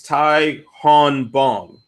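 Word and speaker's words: Tae Hyun Bang: Getz yeah alright so so the correct pronunciation is ty Han bong now when he fought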